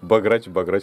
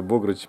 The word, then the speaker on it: бограч: Он узнал про ударение. Да, главное, а то я его баграч называл. Короче, богрыч по-венгерски, богрыч гуляш по-венгерски. Ну, а там не знаю, как правильно, неправильно мы будем делать.